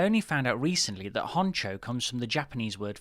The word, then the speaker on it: honcho: head anti-clockwise 90 degrees honcho hunto all these years i thought that honcho was a spanish word what with it rhyming with pancho and all growing up i used